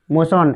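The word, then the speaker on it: motion: ट्यूशन हला तबरे मोशन मोशन एम ओ टी आई ओ एन मोशन इटा मोटियन नहीं बोलबो हला बुझि होइछ कि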